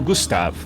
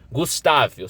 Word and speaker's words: Gustave: crocodilo gigantesco né o Gustav Gustav eu sei que tem gente que pronuncia Gustavo gustave mas é Gustav Gustav tá foi lá encontrado